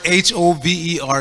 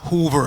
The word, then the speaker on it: hover: needs to be explained the word h-o-v-e-r is hover not Hoover I'll explain the difference